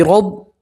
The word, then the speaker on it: رب: رب، اور را کے اوپر زبر ہے تو را کو آپ پور پڑھیں گے، موٹا پڑھیں گے، بی رب بل۔ پھر با کو سیدھا